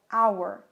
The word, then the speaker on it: hour: E vejam que é muito importante o som, porque, por exemplo, hour começa com H, mas eu não tenho um som de H, eu tenho um som de O, hour.